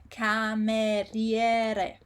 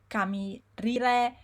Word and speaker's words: cameriere: So I hear things like cameriere, camirire, very weird. But the actual pronunciation is cameriere, and the word cameriere means waiter. So as you can see, there is again the pattern of the two letters C and A, which is ka, and then we have the I and the E. In this case, the I is pronounced cameriere. You don't say camerire or camerere. You pronounce the I.